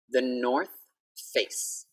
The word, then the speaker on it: The North Face: For TH, we need to have our tongue out. So don't be shocked when you see my tongue.